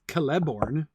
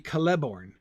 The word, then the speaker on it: Celeborn: Because it's a hard C, I always want to put the stress on the syllable with the hard C. Nobody says Celeborn. No. Galadriel's husband? I mean, technically, if the stress in Elvish names is always on the second to last syllable, then it should be Celeborn.